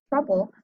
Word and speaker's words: trouble: because of our rule, but in these words, we have a short E sound. Just like in the word touch, we have the which is a short U sound, but we have OU together.